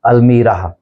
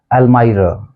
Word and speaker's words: almirah: चौथा शब्द है ALMIRAH। इसको हम आमतौर पे बोल देते हैं अलमीराह, अलमीराह बोल देते हैं इसको हम, लेकिन इसका जो एग्जैक्ट प्रोनाउंसिएशन है वो है अलमाइरा, अलमाइरा, अलमाइरा।